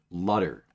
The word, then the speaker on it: Lutter: Legionary Shark, how do you feel about Lutter? Rhymes with butter.